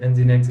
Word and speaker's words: Nginx: linux this will update the package list yeah engine x is actually pronounced as in the next okay that way and once the hens in x is installed we can start with sudo system control start engine x and we have to enable that as well